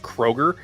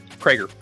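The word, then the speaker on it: Chad Kroeger: It looks like it would be pronounced Kroger, but it's Krager.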